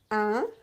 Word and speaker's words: un: You should not pronounce any sound N at the end. There is no N at the end. It's written N, but it's not pronounced.